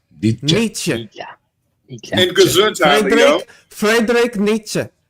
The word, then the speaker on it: Nietzsche: It's not that's not a hard E on the end of that name. Nietzsche. Nietzsche.